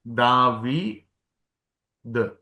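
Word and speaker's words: דוד: മുകളിൽ കുത്തിടുമ്പോൾ വവലആയി മാറും അടിയിൽ കുത്തിടുമ്പോൾ ലെറ്റർ തന്നെയാണ് ദാവി ദ ദവി ഇങ്ങനെ എഴുതുമ്പോൾ ഡേവിഡ് എന്നാണ് ദ ദ ദവി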